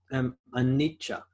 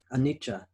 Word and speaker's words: Anicca: I think it's Anicca, which means impermanent, no permanence. Anicca. I think it's usually spelled in English or in the Roman alphabet, A-N-I-C-C-A, Anicca. Anicca, some people pronounce it.